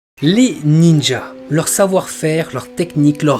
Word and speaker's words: ninja: Mais ce sera dans le manga Sarutobi Sasuke, publié en 1955, que l'auteur Shigeru Sugiura formera les mots ninja ou ninja, donc à partir de la prononciation chinoise pour désigner les shinobi japonais.